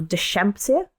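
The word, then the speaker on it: Deschampsia: So dash the shampsia cuz it's a shh sound.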